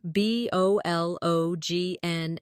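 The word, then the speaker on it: bologna: For example, kernel is spelled c o l o n e l, but sounds like kernel or bologn, which is spelled b o l o g n a but pronounced bologn.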